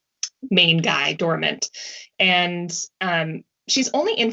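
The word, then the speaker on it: Dorimant: named doramunt dormament i i say it wrong yes you do i have a a very bad french accent which is um part of my character but uh for everyone else it is dormant i've had to train myself not to say it correctly well everyone else had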